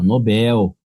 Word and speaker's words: Nobel: A outra é Nobel, a sílaba tônica está aqui, ó. Nobel.